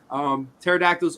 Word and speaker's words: pterodactyls: Pterodactyls are the lasagnas of the dinosaur world, hence silent letters.